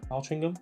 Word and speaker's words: Altrincham: Once we got to Altrincham though, Altrincham, that's how you say it, there's a hill there at the half marathon mark.